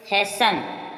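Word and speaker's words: hasten: rules याद हो जाएंगे यदि किसी शब्द के अंत में टेन दे रखा हो तो टी प्राय साइलेंट रहता है जैसे हैसन क्या है न टी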